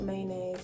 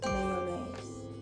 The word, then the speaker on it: mayonnaise: It's not mayonnaise, it's mayonnaise. Mayonnaise. Okay? Mayonnaise. Make sure you pronounce the Y and the O, not mayonnaise.